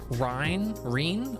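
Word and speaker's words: Rean: I love Joshua, but Estelle is really it's pronounced Reen.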